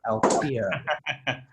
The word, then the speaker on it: Alphear: Funnily enough, his last name sounds a bit like one of your characters, Alfear, but it's spelled Alphear, Alfear.